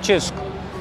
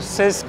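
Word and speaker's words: Cisk: सबसे फेमस वो है चिसक। सीआई एस के करके नाम है। तो मैं इसको सिस्क और किस करके प्रोनाउंस कर रहा था बहुत टाइम तक। बाद में मुझे रियलाइज हुआ उसका नाम चिस्क है।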